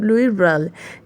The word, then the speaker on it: Louis Braille: ठीक है, फिर कुछ सालों बाद some year later a blind man कॉल्ड लुई ब्रेल, एल ई जो है वो साइलेंट है, तो ये है लुई ब्रेल, 1809 till 52.